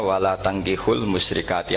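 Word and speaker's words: ولا تنكحوا المشركات: Jadi saya ulang lagi ya, mestinya bacanya wala tangkihul musyrikati hatta yu'min bi fathita. Itu betul, wala tangkihul lan ojo nikah sira kabeh lanang Islam ke ojo nikah al musyrikati ing wadon perempuan musyrikah.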